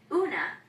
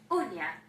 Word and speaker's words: uña: In Spanish spelling, this mark above the N indicates that rather than una, the word should be pronounced uña.